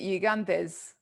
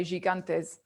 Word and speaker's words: gigantes: pronounce it it's well in greek you'd pronounce it uganda's yeah funnily enough they don't have this the sound ju yeah j sound so even some of my